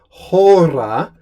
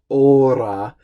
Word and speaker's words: hora: speak or read Latin, remember to say hora, pronouncing the H, and not ora, which is always going to be a temptation because of the influence of Spanish.